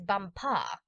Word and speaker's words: Bumpar: She became his chief wife, and is now known out there as the Crown Princess Bumpar. You accent the last syllable."